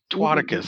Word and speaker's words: Twaticus: Twaticus, how do you say that?